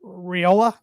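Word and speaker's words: Raiola: him five star freshman Dylan riola I believe is how you pronounce his last name Rola he was committed to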